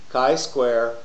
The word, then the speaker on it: chi-squared: welcome to chapter 8 Kai square and nominal data the video series hosted by